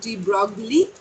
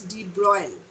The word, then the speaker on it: de Broglie: Okay, remember the pronunciation is not de Broglie, because you can see the spelling is de Broglie. It's a French name, the pronunciation is de Broglie.